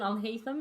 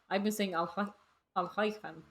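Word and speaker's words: Alhaitham: Even Al-Haytham is said in a really white way. What is that? What is the correct pronunciation there then? Because I've been saying it wrong continuously, but I've been saying Al-Haytham.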